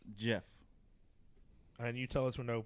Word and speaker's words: GIF: okay let's go Nick GIF is pronounced Jiff and you tell us